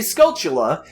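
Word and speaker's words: Skulltula: just can't seem to agree on how it's pronounced I say scula because the word is very clearly a pment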